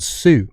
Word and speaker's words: Tsu: didn't last it was called Sue but it was spelled TSU but it's like the Japanese pronunciation like sunu yeah yeah but they